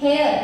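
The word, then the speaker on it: heir: बायको असं म्हटल जात हेअर हेअर म्हणजे डोक्यातले नाही स्पेलिंग चेक करा एच इ आय आर हेअर म्हणजे वारस वारस म्हणजे जसं माझं आडनाव आहे वाक्य आता मी माझ्या सासू सासऱ्यांसाठी सुरू झाली.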